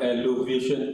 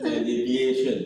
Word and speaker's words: alleviation: of uh pre uh poverty whatever the program is called pre-poverty elevation by the way you need to get it the pronunciation right not not not alvation alleviation elevation elevation